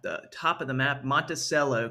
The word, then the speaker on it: Monticello: top of the map, Monticello, Kentucky. That's how they say it there.